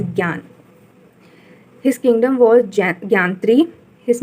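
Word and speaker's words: Jnan: Here, Gyan spelling is Gnan. It is pronounced as Gyan.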